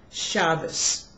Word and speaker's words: Shabbos: But if a word is a Hebrew word that is used in Yiddish, such as the word Shabbos, well, in today's Hebrew, we use the Sephardic pronunciation, and we say Shabbat.